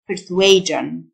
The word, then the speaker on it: persuasion: persuade persuade إقناع persuasion ال s i o n تنطق جن persuasion مقنع persuasive persuasive ينتج